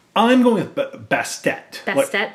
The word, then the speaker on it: Bastet: Is it Bastet? I'm going with Bastet. Bastet? Like, more like that harder sound at the end.